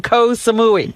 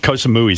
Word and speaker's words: Koh Samui: Koh Samui sounds like death. Baba Booey. Koh Samui rhymes with Baba Booey.